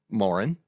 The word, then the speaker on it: Moran: and then we have his assistant director Morin pronouncing it right that's correct very good and she